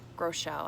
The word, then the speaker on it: Groeschel: a lot of things Groeschel I think is actually how you pronounce it he's come up with a